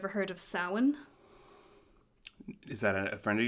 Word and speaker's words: Samhain: celtic festival of samhain that's samhain not sam haynes i watched this video